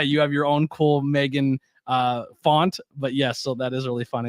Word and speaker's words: M3GAN: uh Meg which is with the three uh pronounced Megan is a 2022 American